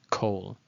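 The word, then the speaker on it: כל: And then, as I mentioned, in the word kol, if you see this, you might think it's kal, but it's not. It's kol.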